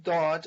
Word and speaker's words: dad: Dad, which is actually pronounced Dad, is short for Dade, which means a gift.